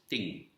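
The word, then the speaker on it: 听: means listening in chinese in mandarin it is pronounced as ting so let's have a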